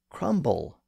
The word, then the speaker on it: crumble: happened with related word crumble in that case the B started to be pronounced so this was the